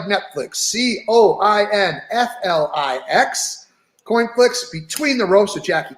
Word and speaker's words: CoinFlix: you would get the pick it's here it's coin flicks and in coinflix and we're the only company